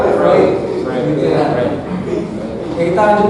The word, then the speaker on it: Freud: Jadi Freud itu Bacanya Freud. Jadi ini tulisannya Freud tapi bacanya Freud.